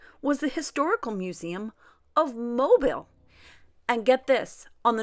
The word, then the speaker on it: Mobile: It is not Mobile. It is Mobile, Alabama. So fun day yesterday.